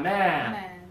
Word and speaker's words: man: give me man good open up more a man good and now this one teeth together men really good job when